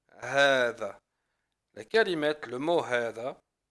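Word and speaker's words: هذا: La kalimat, le mot hada, on le prononce hada, avec un med.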